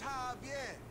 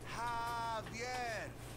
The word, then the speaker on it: Javier: Javier! Bitch, you don't get it. It's Javier. It's pronounced like an H. Javier.